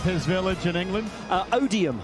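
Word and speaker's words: Odiham: Uh Odium. And what does that rhyme with? Podium.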